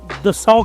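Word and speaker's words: Dassault: दसऊ कहते हैं वो वहां पे फ्रेंच में लेकिन हमने प्रोनाउंस करना है। तो दal नॉर्मली बोला जाता है। बट दसऊ इज a French pronunciation.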